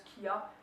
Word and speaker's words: chia: À côté, j'ai mes graines de chia, je prononce kia, donc c'est C-H-I-A.